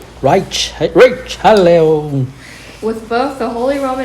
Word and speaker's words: Richelieu: Richelieu, like it's French, right? They Yeah. pronounce differently. Richelieu.